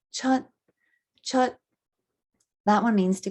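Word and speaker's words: 出: So chut is how to pronounce it.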